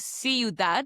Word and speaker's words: ciudad: Okay, so in summary, with the letter C, before the letters E and I, like you did with ciudad, spelled C-I-U-D-A-D, ciudad, it sounds like an S, but before the letters